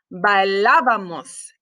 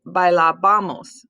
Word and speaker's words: bailábamos: And then for the nosotros form, it's bailábamos, and you have to have an accent on the A. Otherwise, it's bailabamos, and we want to say bailábamos, bailábamos, not bailabamos.